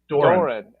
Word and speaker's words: Doran: is it Doran or Duran? How do you say your last name? Doran.